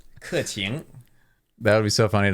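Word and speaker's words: Keqing: It's like through the teeth. Yeah. Qing. Qing. Qing. Or if you're a super northerner, qing. Okay. So Ke qing.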